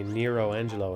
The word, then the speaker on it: Nero Angelo: It's like the way I say Nero Angelo and not Nello Angelo.